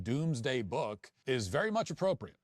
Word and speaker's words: Domesday: actually spelled Domus Dei, even though it's pronounced pronounced Domesday.